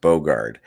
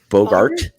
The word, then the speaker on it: Bogart: straight you did not you did not mispronounce Bogard you made a whole new word up with a letter B in it no I'm I'm saying a t Bogart Bogart what the [ __